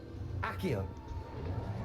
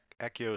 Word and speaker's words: Accio: Accio. Oh, Accio. Okay, that's how we're pronouncing it here.